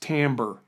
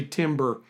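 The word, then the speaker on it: timbre: tamber by the way that word is pronounced tamber it's a it's of French origin and it's uh people say timber just a pet peeve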